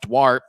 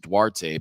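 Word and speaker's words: Duarte: and 170 pounds out of Spokane Washington so dwart scored 1438 and I've seen other people with that sort of spelling d a r te and they're they usually pronounce it dwarte but um um you know that's just what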